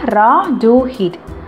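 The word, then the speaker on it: Rotherhithe: அதை எப்படி ப்ரொனவுன்ஸ் பண்ணணும்னா ராடுஹெட். ஸோ அங்கே வந்துட்டு இவர் வந்துட்டு என்ன பண்ணுறாருன்னா, எனக்கு அதிகமாக தெரியாது, கொஞ்சம் தான் தெரியும், அதே நான் அவங்ககிட்ட சொல்கிறேன்னு சொல்கிறாங்க.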